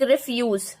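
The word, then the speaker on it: refuse: अगर इसको ये वाले वर्ब पार्ट को प्रोनाउंस करना है तो it will pronounce like रिफ्यूज, and when it हैज to pronounce the noun part तो it will pronounce as रेफ्यूज।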